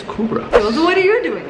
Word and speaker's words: Kübra: In London, people used to call me Cobra. So I have to put the accents on so they can pronounce the U. So it's Kubra.